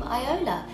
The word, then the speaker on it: iiola: I am now releasing music under the name iiola, which is spelled I-I-O-L-A.